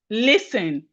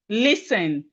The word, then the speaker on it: listen: Listen. Listen. Listen. The T is silent.